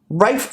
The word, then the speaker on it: Ralph: didn't intend it to rafe vaughn williams note the funky pronunciation of ralph ralph warren williams rayford